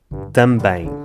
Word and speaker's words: também: A palavra também é complicada porque acaba num EM, o que significa que acaba no ditongo em. É muito pouco intuitivo ver um EM e perceber que faz o som nasal em e não M, mas o português é assim.